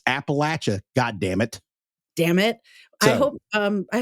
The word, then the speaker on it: Appalachia: a personal pet peeve of mine she she pronounces it Appalachia which makes me want to commit murder yeah because it's Appalachia it's always been Appalachia it will always be